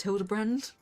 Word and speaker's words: Hildibrand: It's pronounced Hilderbrand.